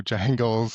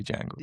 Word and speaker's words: dj-angles: Like, Yeah, so DJ Angles or Jangles, I guess. it rhymes with Spangles if you say Jangles. Yeah, so, I like that.